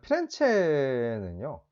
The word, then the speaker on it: 피렌체: 자, 피렌체는요, 이탈리아 중부에 위치를 하고 있습니다. 뭐, 이제 영어식 발음으로 하면 플로렌스라고 이야기를 하기도 하고요. 뭐 이제 이탈리아식으로 피렌체라고 이야기를 하는데, 이제 이 피렌체라는 말은 꽃이라는 뜻입니다.